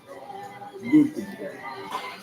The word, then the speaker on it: Nürburgring: Nürburgring. The green hell redirects for other users. The Nürburgring, German pronunciation, Nürburgring.